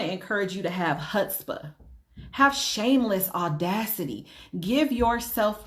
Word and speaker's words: chutzpah: There's something that's called chutzpah. Okay? It's spelled CHUTZPHA.